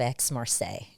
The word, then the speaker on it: Aix-Marseille: So pronounce that for me. It is the University of Aix-Marseille Okay.